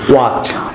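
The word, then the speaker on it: what: সঙ্গে একটু বলো যে হোয়াট, হোয়াট, ওয়াই, why, with, which, ওয়েন, হোয়েন, war, where, how. হাউ। আমরা WH এর যে উচ্চারণ সেটি হবে কি ওয়া, এইচ সাইলেন্ট থাকবে।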